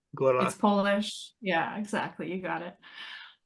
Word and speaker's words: Góra: under the name Gora you say it with the tapped R like the I don't know people say Gora and it's like that's fine but if you want to say it properly it's Gora Gora it's polish yeah exactly you got